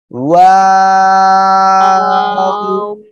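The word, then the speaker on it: و: ওকে, এই অক্ষরটা উচ্চারণ হবে দুই ঠোঁট গোল করিয়া, ঠিক আছে, শুরুতেও গোল হবে এরকম, আবার শেষেও কি গোল হবে এভাবে, ঠিক আছে। ওয়াও, সবাই বলেন, সবাই একসাথে বলবেন, ওয়াও।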